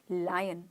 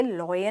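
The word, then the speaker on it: lion: लायन लायन अ आ आ की मात्रा य लायन तो आज से लॉयन नहीं लायन right right right right मतलब दंगा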